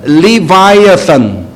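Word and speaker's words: Leviathan: 리 워 얏 아니에요 이것을 영어로 발음하면 리바이 아 싼 아 영국의 유명한 철학자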